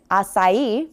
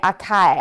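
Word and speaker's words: açaí: Like one of my favorite things to eat is acai from Brazil.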